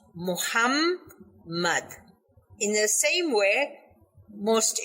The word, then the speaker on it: Muhammad: the the name of our holy prophet muhammad has double m in it therefore it should be pronounced muhammad in the same way